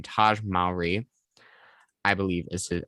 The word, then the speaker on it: Taj Mowry: And so up next we have Wade Lode, who is played by I always say his name Taj Mowry, I believe is how you say it.